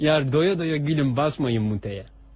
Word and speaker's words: mute: doya doya Gülün basmayın muteye Mut diye okunur da ben hani mute yazıyor cihaz üstüne diye söyledim yok çok Teşekkür ederim Kolay